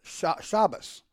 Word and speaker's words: Shabbos: So, for instance, the Ashkenazi will tell you that it is Shabbos with an S on the end.